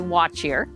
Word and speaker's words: What Cheer: So we say watch here. Watch here is a greeting from the East Coast.